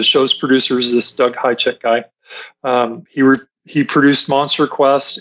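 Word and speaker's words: Hajicek: Doug I think he pronounces it Hijack. Hijack, okay. But it's spelled H-A-J-I-C-E-K.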